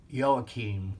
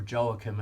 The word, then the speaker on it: Joachim: and and her father yo Keem or Joachim as you may like to pronounce it yeah so I've memorized